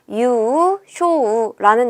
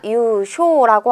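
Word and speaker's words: 優勝: 여러분 선택지 4번에 봤더니 유쇼우라는 애가 나와 있어요. 유슈가 아니라 유쇼라고 하면 끝에다 이길 승자를 써줘서 우승하다 할 때 우승이 되는 것도 함께 체크해 주세요.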